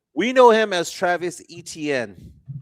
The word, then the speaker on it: Etienne: So growing up, it's Travis Etienne. So it'd be like Achane.